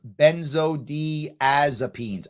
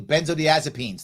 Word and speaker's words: benzodiazepines: all right all right um Scott says it's pronounced benzodiazepines ah thank you benzodiazepines thank you Scott I appreciate that good there